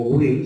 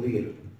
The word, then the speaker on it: vir: romanos hablaban del bonus vir o Will se pronuncia te acuerdan la B corta la pronuncio como doble B bonus Will o vir fíjense que la palabra